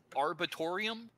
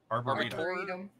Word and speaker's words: arboretum: How does it pronounce, Chris? Arbitorium. Arboretum.